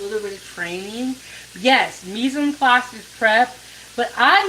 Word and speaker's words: mise en place: You said mise en place on point. If you said the word mise en place, that tells me that you have a little bit of training. Yes, mise en place is prep.